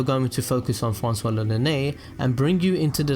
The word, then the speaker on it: l'Olonnais: The Japanese pronunciation for Lonene is Roronoa.